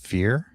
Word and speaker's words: kefir: In English, so she says kef- kefir kefir emphasis on the second it was pronounced kefir.